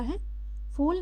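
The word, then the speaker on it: half: Flowers मतलब होता है फूल। नेक्स्ट है हाफ एच ए एल एफ हाफ हाफ मतलब होता है बच्चों आधा यहां पे एल साइलेंट है हाफ पढ़ना है नेक्स्ट है थ्रो थ्रेव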